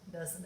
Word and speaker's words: does: sounds like just sounds like the word know doesn't it in ho right so it's not this